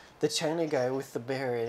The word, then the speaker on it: China: English on the box, it really does look like it says Chinagguy, but her name is China Kosaka, so you just got to remember that. right. And if you speaking of that kind of pronunciation, I'm from California, and one of the cities I grew up close to was a city called Chino, which has the same type of pronunciation.